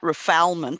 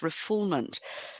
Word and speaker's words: refoulement: Looks like refoulement, but it's pronounced refoulement.